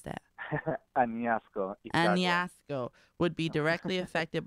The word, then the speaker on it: Añasco: Knowing his family in how do you pronounce that? Añasco.